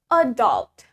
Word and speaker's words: adult: The stress is in the second syllable.